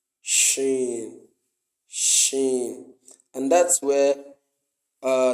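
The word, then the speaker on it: شين: it's from the it's it's actually pronounced from the middle of the tongue Shen sh sh the the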